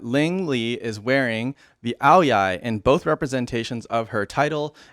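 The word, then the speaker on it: áo dài: them the Vietnamese aoyai romanized as a o d a i but pronounced aoyai is a very much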